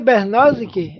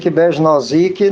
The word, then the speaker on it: Besnosik: Bernosic, é assim mesmo que pronuncia o teu nome? Besnosic, não tem diferença não, pode ser qualquer uma das formas.